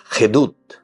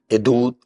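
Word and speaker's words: עדות: Y la palabra hebrea para decir testimonio es gedut. Hedut. Edut, ¿verdad? eh tiene una pronuncia ain, ¿verdad?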